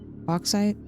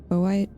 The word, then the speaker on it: bauxite: And then we'll go find the, how do I pronounce this? Bauxite? Bowite?